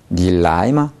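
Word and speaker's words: 你来吗: 니 하는 게 공기가 쏟아져 나와야 돼요.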